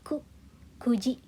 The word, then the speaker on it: kuji: Hai, bukan Q tapi ku, kuji.